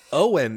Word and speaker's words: Eoin: Owen is a good like I think Scottish or Irish name, but you have to spell it Eoin.